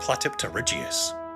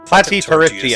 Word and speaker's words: Platypterygius: Completing the marine reptile trio, the third animal I'll be discussing in this video is the Ichthyosaur Platypterygius. Platypterygius.